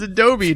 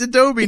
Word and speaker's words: Adobe: Adobe it's Adobe it's Adobe dude is it Adobe it's Adobe not adob it's ad doy I swear I've heard